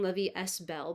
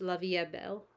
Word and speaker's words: La Vie est Belle: La Vie EST Belle keep saying La Vie s Bell but I don't think in French they pronounce the S just La Vie Belle whatever if you're like